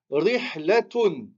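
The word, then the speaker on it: رحلة: un autre mot après, et ben on va le prononcer comme un T. On va le prononcer comme un T. Ici, on va dire rihlatun.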